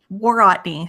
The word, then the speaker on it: Worotny: Worotny. So it's war as in fighting, ought as in you ought to do something, and knee like your kneecap.